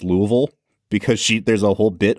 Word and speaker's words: Louisville: is the movie that taught me how to pronounce Louisville, because there's a whole bit on the plane where he's saying Louisville and she's saying Louisville.